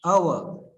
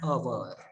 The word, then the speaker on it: hour: Arjun returned after dash hour. An. An. Yes, and is the correct answer because hour is pronunciation of hour is starting with vowel sound, that is O. Okay. Arjun returned after an hour.